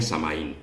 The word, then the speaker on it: Samhain: estas fiestas es shanghái bueno en inglés actual produciría samhein pero en el inglés antiguo y bélico se diría a samhain que es como lo voy a pronunciar en esta conferencia samhain es la festividad